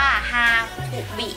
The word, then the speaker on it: Hakubi: ตัว นี้ นะ คะ อ่าน ว่า ฮาคุ บิ นะ คะ ฮาคุ นะ คะ แปล